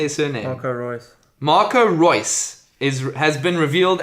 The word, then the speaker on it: Reus: Marco Royce.